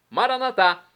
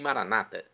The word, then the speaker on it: Maranatá: E agora do aramaico dialeto de Jesus, eu clamo Maranatá, que significa vinde, Senhor Jesus, vem Senhor, é a pronúncia católica. Os nossos irmãos das comunidades protestantes ou evangélicas dizem maranata. Não importa a pronúncia, o significado é o mesmo.